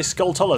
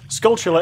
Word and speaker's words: Skulltula: I've changed my pronunciation I always used to say skull taller they're worse now I say skull sure someone pointed out completely correct me correct me correctly to me that skull chiller is based on the